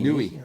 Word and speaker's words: Niue: So I don't know how to pronounce it, but it's that There might be Pacific some Island, Niue, select. N-I-U-E. Nui. Nui.